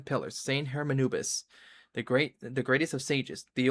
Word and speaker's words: Hermanubis: One of King Deshret's 7 pillars, Saint Hermanibus? He mentioned it. Hold on, how you say it? 2 good reasons, in fact. Incidentally, 3 is the maximum number of Hermanubis's Ba fragments that I could bear. Hermanubis, okay, got it.